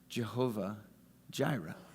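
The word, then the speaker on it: יהוה יראה: It would be pronounced in Hebrew something like Yehovah Yireh. How we would naturalize it is we would say Jehovah Jireh.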